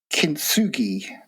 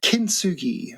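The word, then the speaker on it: kintsugi: Um, you come up you you you shared with me a a beautiful concept uh called kinsugi and I think I pronounced it correctly. So, kinsugi.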